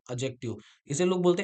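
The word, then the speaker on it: adjective: जैसे ये लिखा है एडजेक्टिव। इसे लोग बोलते हैं एडजेक्टिव। ए और जे के बीच में कभी भी डी आ जाए तो हम डी साइलेंट कर देते हैं।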